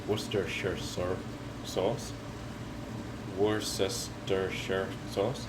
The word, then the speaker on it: Worcestershire: called worcestershire syrup sauce worcestershire sauce it's just called worcester sauce because nobody could say it like it's spelt and a few drops